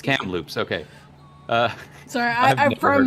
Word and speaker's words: Kamloops: recently hudson wisconsin wake county in north carolina chem loops british con british columbia kamloops chem loops is that not what it's called no it's kamloops oh it's cam loops okay uh sorry i'm from bc so i